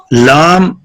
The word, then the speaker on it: لام: پڑھیے، حاجی رضنفر صاحب۔ Pronounced lam, pronounced as lam, starting using corner of tongue touching the gums of the front teeth to front molar. Repeat کیجیے۔ Lam, pronounced as lam, start